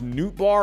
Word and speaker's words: Nootbaar: Even someone like Lars Nootbaar, am I pronouncing that right?